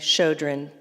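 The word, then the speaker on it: Chödrön: I've watched some interviews with, I think it's pronounced Pema, P-E-M-A, Chodron, C-H-O-D-R-O-N.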